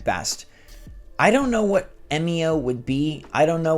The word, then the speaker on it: Emio: day that Nintendo reveals MEO, which even though it's spelled EMIO, Project M, MEO, doesn't that just line up all too well?